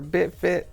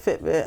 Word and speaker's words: Fitbit: No, I don't have a Fitbit or BitFit. Did I say it right? Fitbit? Fitbit. Okay.